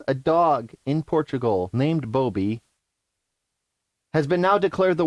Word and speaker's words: Bobi: How would you pronounce that? Bobby or Bobi? Bobi.